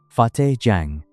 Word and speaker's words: Fateh Jang: 23 kilometers southwest of Kohsar Market, the new Islamabad International Airport sits on a plain near Fateh Jang Tehsil, pronunciation Czech, Fateh Jang, a facility that opened in April 2018 and